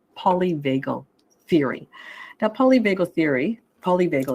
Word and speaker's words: polyvagal: you're a therapist yourself um but it's called polyvagal Theory now polyvago theory polyvagle is spelled p-o-l-y for poly and vagal v-a-g-a sorry